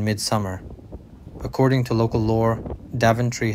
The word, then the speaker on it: Daventry: according to local lore daventry has Viking roots with its name once pronounced d tree sparking images of a D Tree these days though